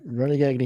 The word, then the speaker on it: Gagne: Vern Gagne, yes. It's correct. Correct pronunciation, yes.